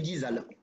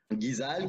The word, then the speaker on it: GeeZal: La marque qu'on appelle, comment tu le prononces, comment tu le dis? Alors, la marque s'appelle Guizal. Voilà. Guizal qui vient, c'est une association de noms de famille.